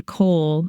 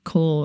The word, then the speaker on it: kohl: The kohl, as it is referred to, can be prepared at home.